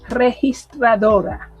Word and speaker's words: registradora: The only reason why I sound like that is because I genuinely find it difficult to say registradora. That is the right pronunciation right there.